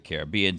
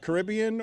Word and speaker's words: Caribbean: How do you pronounce it? Caribbean or Caribbean? When it's Royal Caribbean. When it's Pirates of the Caribbean. Pronounce it the correct way, Caribbean.